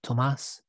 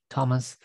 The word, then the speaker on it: Tomas: no h because yes my name comes from spanish language so it's pronounced tomas not thomas and it has no